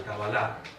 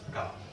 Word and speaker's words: Cábala: ¿Por qué la orden martinista enfatiza tanto el aspecto del conocimiento cabalístico o de la tradición conocida como la Kabbalah o pronunciada en español Cábala?